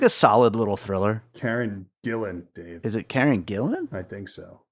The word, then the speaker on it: Gillan: I think Karen Gill I think it's pronounced Gillan though it is so it is Gillan I always thought her name was Karen Gilly that's so there's no